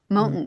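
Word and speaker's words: Mohnton: Monton, is that how you say it? Mountain.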